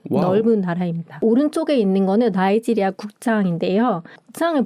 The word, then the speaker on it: 나이지리아: 영국령이었으니까 이제 영어식으로 해서 나이지리아 이렇게 발음을 합니다.